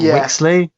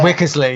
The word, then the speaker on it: Wickersley: was the courtyard that I'm probably gonna probably pronounce this wrong was it wixley yeah wickersley yeah yeah yeah well I mean it's mainly